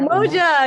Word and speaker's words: Umoja: Umoja, right? Am I saying it right? Umoja, yeah. Umoja.